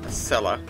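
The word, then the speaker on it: Acela: which is their surrogate asella yes it's a cell not a sea don't anybody pronounce it like that another huge chunk of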